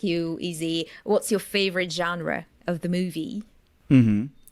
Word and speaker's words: genre: comedy with some Adventures I think it comes from French right it sounds French to me genre yeah there's another